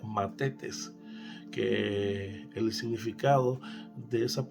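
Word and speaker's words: μαθητής: Decíamos que ese término en griego significa o se pronuncia matetes, que el significado de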